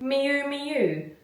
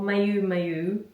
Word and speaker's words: Miu Miu: Miu miu miu miu pronounced like miu miu mu mu miu miu. It's not moo or mu mu.